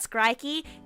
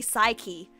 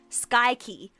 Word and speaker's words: Psyche: And also the other fun fact about Skrikey is that I've been pronouncing his name as Skrikey when his name is actually Psyche. Skykey.